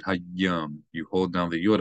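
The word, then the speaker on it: היום: Again, you have a dagesh in the yud, so not just hayom, but hayom. You hold down the yud a little bit. Hayom.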